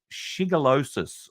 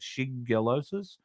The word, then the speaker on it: shigellosis: Now, Brett Sutton says that cases of shigellosis, I think is how you say it, shigellosis or shigellosis, which is a highly